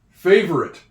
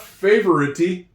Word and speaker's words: favorite: This silent E is so important. I talk about it all the time. A lot of times, words in English end with the E, but you don't hear it. You don't hear him.